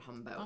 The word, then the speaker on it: Jumbo: The grocery store's name was Humbo with a J, Jumbo, but they called it Humbo. It never made sense to me. They have. Because that's how they pronounce the J sound.